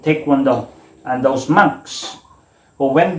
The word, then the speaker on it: Taekwondo: So there is the presence of do, because Taekwondo has 3 syllables. The te, kwon, and do.